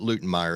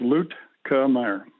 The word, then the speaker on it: Luetkemeyer: name correct i've got luton meyer am i pronouncing that correct yeah it's pretty close it's loot camaro luke kamyer okay i'll work on